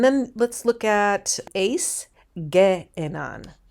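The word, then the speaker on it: γέενναν: And then let's look at ace, ge'enan, ge'enan. That you pronounce two epsilons separately.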